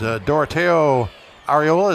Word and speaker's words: Doroteo Ariola: That is Doroteo Ariola. Is that how you pronounce that? That's exactly the way you said it, Terry.